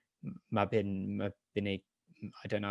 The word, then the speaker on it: Mabinogion: So that's like Mabinogion. I don't know how to pronounce it. Mabinogion, yes.